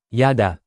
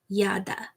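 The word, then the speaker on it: ידע: This week's Hebrew word, yada, to know. Pretty cool, right? Yada.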